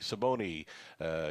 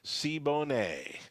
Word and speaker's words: Saboni: Saboni keeps on getting mispronounced. So he's corrected me in saying Sabone, Sibone.